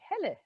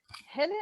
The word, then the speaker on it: Helle: Also, this is a great experience for, you know, teaching everybody how to say Helle, because it's Helle and Helle. That's usually mispronounced.